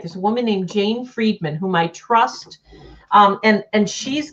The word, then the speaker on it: Friedman: To jot in Jane Friedman, and it's spelled like fried man.